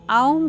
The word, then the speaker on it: ओम्: मकार नाद और बिंदु इसका उच्चारण आऊं करते हैं आपने देखा होगा ओम